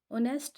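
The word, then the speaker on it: honest: में जी साइलेंट है, ऑनेस्ट में एच साइलेंट है और जो साउंड आ रही है वो ओ से शुरू हो रही है। ऑनेस्ट, एच की साउंड यहाँ पे नहीं है।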